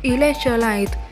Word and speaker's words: electrolyte: Mình xin đọc lại, danh từ này là electrolyte, nhấn âm 2.